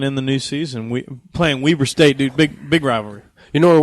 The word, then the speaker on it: Weber State: it's pronounced Weber State. It is Weber State, which was fun.